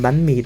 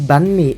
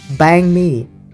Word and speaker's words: bánh mì: The only downside, it's one of the most mispronounced Vietnamese words by foreigners. Bun me. Bun me. Bun me. And I don't like that they say bang me.